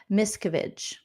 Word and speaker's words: Miscavige: So Lace says it's pronounced Miscavige.